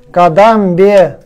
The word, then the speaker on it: кадамбе: Я не могу с тобой скорость решать, чтобы не Кадамбе, тоже ударение на бе.